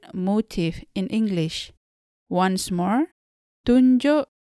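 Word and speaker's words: tunjuk: tell directions and etc the u in the first syllable is pronounced like mulan in the disney character and the u in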